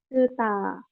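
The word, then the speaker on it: スター: Oke, nah ini mungkin tadi ya yang star ini dibacanya apa? Su. Tuta. Kuta. Betul ya. Suta.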